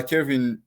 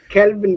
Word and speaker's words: Kelvin: marketing uh as uh Kevin Kevin is it the real pronunciation Kelvin Kelvin that is L okay Kelvin okay as